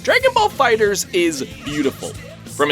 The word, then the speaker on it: FighterZ: It's phonetically said Fighter!